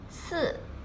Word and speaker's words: 四: Please note the difference 四 and 是 here. 四 sounds like the sun or sorry in English, however, 是 has no